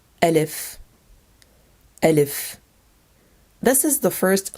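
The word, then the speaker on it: ألف: Letter Alif, Alif. This is the first letter of the Arabic alphabet. It is a long A sound because it looks like a long arm.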